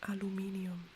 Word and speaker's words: Aluminium: in German it's actually aluminium so I know how to pronounce it properly but otherwise the Americans would be very confused so in German it's aluminium it's very similar so